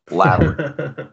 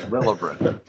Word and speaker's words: Labyrinth: Let me, like, completely mispronounce the word Labyrinth. And I said Lilibreth. I literally said Lilibreth. What in the? No wonder I mispronounced the shit out of people's names on this show. I just pronounced Labyrinth Lilibrinth.